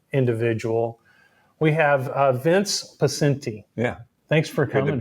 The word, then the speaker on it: Poscente: We have uh Vince Paci. Yeah. Thanks for coming. Good to be with you, Rob. Yeah. And I pronounced your name right.